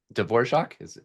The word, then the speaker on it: Dvorak: Next up is Philip Dvorak. Do you pronounce it like the composer? Yes, hi. That's correct.